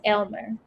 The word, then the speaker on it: Aylmer: You pronounce it Y, she says. Yes, Aylmer.